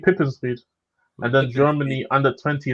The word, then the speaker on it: Pipinsried: I think it's pronounced Pippenscheid. Yeah, I'm no, it's not right. It's not. It's Reed. It's Reed. It's FC Pippensried.